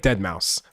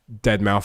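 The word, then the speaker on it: deadmau5: it's spelled amperand number sign 39 and it's pronounced apostrophe." It would be like dead mouse. Like a lot of people, for example, say dead mouth 5.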